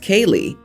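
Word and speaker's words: Caelig: my wife suggested C AE l i g pronounced Kay and yes she spelled it out I vetoed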